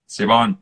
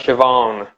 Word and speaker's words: Siobhan: Maybe it's Siphon Cos or Siobhan. Siobhan. All right, there we go. That is an Irish name. That's Siobhan.